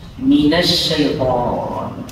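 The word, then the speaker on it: مِنَ الشَّيْطَانِ: Mengabaikan sifat tafasyi atau tersebarnya udara pada mulut saat menyebut huruf shin pada lafaz minas syaitan. Ya ada sih tafasyinya tapi kurang.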